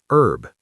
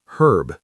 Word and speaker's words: herb: American, herb. The H is completely silent. British, herb. The H is fully pronounced.